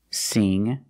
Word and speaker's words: sing: different so when you see words like Wing sing and bring you see the combination of ing